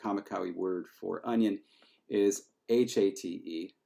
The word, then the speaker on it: hate: In fact, the Kamikawi word for onion is H-A-T-E. It's pronounced hate, but it looks like English hate, and it is a solid one.